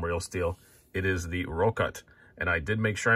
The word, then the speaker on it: Rokot: It is the Rokot, and I did make sure I'm pronouncing that correctly.